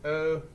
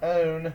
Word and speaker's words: one: It's O-N-E. Okay, it's tricky because Magic E usually makes a vowel man appear, but it's not own, it's one.